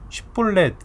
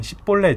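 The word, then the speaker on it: שיבולת: 그래서 쉽볼렛이라는 발음을 하게 해서 못하면은 십볼렛 이렇게 하면 다 죽이는 거예요.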